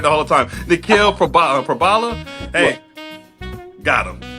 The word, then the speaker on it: Nikhil: Nikhil Prabala.